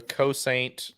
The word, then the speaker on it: Cosaint: reminded me of the cosaint arms uh 2011 that came out earlier this year what is that how do you spell that c-o-s-a-i-n-t oh exactly like it sounds okay cool okay uh